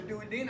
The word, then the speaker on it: duodenum: Oh, the duodenum, or duodenum, whichever pronunciation you like.